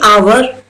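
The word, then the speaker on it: hour: है यहां पर देखिए आवर तो मैंने एच तो बोला ही नहीं तो ये साइलेंट है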